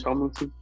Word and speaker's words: Tomlinson: Dalvin Tomlinson. Tomlinson, like LaDainian Tomlinson.